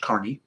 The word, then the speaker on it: Kearney: like it sounds like kearney but it actually is pronounced carney and i've always had